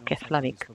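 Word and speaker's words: Keflavík: I would like to point out the F and L. If you have a combination of F and L, it's pronounced as P, as plosive. So those of the people who do not know it would say we just arrived in Keflavik, but we who are in the know, we know it's Keflavik.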